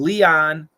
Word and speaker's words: Leon: Leon, lion. Leon, lion. Long E, long I.